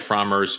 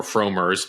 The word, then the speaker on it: Frommer: pronounce his name CU I was calling it fromers for years uh or frers wasn't quite sure he called himself frer so we're going with frer here uh and the backstory